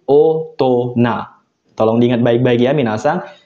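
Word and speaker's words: 大人: Nah, ini spesial cara bacanya. Ketika kanji besar ditambah kanji orang, hito, dia spesial cara bacanya. Jadi orang yang udah gede kan ya, minasang, cara bacanya spesial, yaitu otona.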